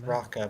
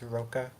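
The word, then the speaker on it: Rokka: I always thought it was Raka, but I guess it's Roka. It might be Raka. I have no idea. It's probably Raka. I mean, that's how. I think Roka is how they would pronounce it in Japanese.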